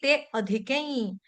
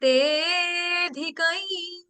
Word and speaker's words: तेऽधिकं: काट नहीं रहे हैं, तो हम कैसे बोलेंगे? जयति तेऽधिकै। क्लियर? हमने उच्चारण करना है, जब हम गाते हैं तो हमने अ नहीं बोलना है, अ का उच्चारण नहीं होगा।